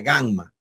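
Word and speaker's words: γάμμα: tenemos la Gamma minúscula el fonema que representa el sonido acuérdense que suena como una G fuerte como una G en gota en guerra ya así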